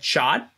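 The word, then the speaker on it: chaat: should try so there is a dish called chot it's spelled c h a a t uh and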